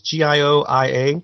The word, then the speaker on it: Gioia: I don't know how to pronounce his last name. It might be Goya. It's Gioia, but he wrote this for the Daily Beast website, and I was just really intrigued by it.